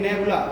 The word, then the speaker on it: nebulae: Niharika, नेबुला, Niharika को English में बोलते हैं नेबुला, NEBULA, LEA, नेबुला, इसे बोलते हैं नेबुला, लेकिन स्पेलिंग LEA है, NEBULAE, NEBULAE, ठीक है, बोलते हैं हम लोग नेबुला है, स्पेलिंग इसकी LAE है, ठीक है।